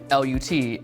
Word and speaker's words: LUT: filming I found out that lookup table is pronounced L like butt lookup table Lut is an industry term basically it's like a